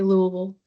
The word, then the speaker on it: Louisville: I mean, there's not a certain way to say it, but most people from Kentucky say Louisville.